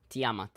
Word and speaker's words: Tiamat: Am I pronouncing that wrong to how do I say that? Tiamat what? Tyamat. Tiamat. I'm gonna put a Y in front of the A. Listen, Tiamat's fine.